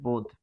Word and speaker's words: বোধ: যেমন বোধ বোধ বানানে কিন্তু হস চিহ্ন নেই। কিন্তু উচ্চারণে কি আসবে? বোধ। পার্থক্য কোথায়? পার্থক্য হচ্ছে হস চিহ্ন। কারণ কি? বোধ বলে থেমে যাচ্ছি।